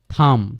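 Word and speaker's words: thumb: থাম।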